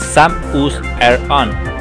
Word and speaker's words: Samus Aran: Its correct pronunciation is "SAM-us AIR-un", etymologically it is a variable of "Seamus", the Celtic version of James that means "the one